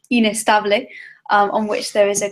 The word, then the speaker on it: Ines: I'm Ines, rhymes with face, space, occasionally disgrace.